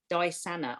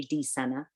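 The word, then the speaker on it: dysania: suffer with this now i hope i'm pronouncing this right but i might not be it's dysanna spelt d-y-s-a-n-a so i'll say that again d y s a n a disanna i think that is how you pronounce it it might be d sana and it is a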